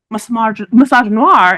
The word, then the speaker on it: misogynoir: Misogynoir is a term that our academic scholar Moya Bailey coined, and she says it's pronounced misogynoir.